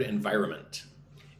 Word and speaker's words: environment: Look at this word environment. Environment, right? 4 syllables. I basically ignore the N. I just say the second N.